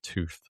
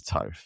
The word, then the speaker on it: Toth: Is it Brett Toth or is it Brett Tooth? You got it right. It is Toth.